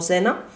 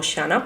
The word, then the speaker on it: Xana: inquilina eraa zena kodo yo me voy a referir a ella como zena Porque e mucha gente se refiere a ella como shana porque se escribe así